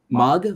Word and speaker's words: Mog: Sorry, Mong? Is that how you say it? Mog or Mong? Sorry. Like dog, log, frog.